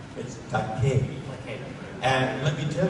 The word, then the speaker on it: Takei: But the Japanese pronunciation of vowels is like the Mediterranean, like in Spanish or Italian or Greek. It's Takei.